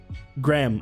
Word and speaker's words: graham: crackers graham crackers please tell me how to pronounce it i'm not sure graham okay there we go the ae thing in